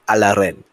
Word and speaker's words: Alren: Now, Alren, or as people in Judar in his mother tongue would more likely pronounce it Alaren.